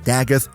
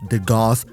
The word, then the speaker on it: Dagath: And yes, she's pronounced Dagith, not de Goth.